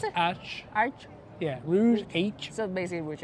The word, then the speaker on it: Rouge H: How do you pronounce it? Arch. Yeah, Rouge H.